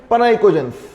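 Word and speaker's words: pnicogens: Group 15 को बोलते हैं नाइकोजेंस या फिर पनाइकोजेंस। पी साइलेंट है।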